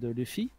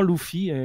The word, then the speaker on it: Luffy: En gros, pour l'anniversaire de Luffy, en même temps, ils ont mis une petite vidéo de l'acteur principal qui joue Luffy qui disait on prononce Luffy et pas Luffy.